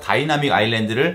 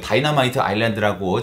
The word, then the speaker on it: 다이나믹 아일랜드: 여러분들 주변에 보면 꼭 다이나믹 아일랜드를 어디서 주워들은 건 있어가지고 다이나마이트 아일랜드라고 자꾸 잘못 발음하는 친구들이 한 번에 한두 명씩은